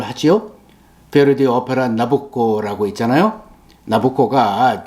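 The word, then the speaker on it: Nabucco: 베르디오 오페라 나북고라고 했잖아요 나보코가 내보코넥사 황제의 이름의 이태리식 발음이에요 거기에 나오는 히브리 노예들의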